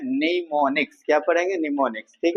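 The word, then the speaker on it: mnemonics: नाम देते है निमोनिक्स देखिए निमोनिक्स य उच्चारण कर रहे हैं तो इसका स्पेलिंग क्या होता है एन ई एम ओ एन आई सी एस ठीक है लेकिन इसके पहले एम लगता है क्या लगता है एम है ना एम साइलेंट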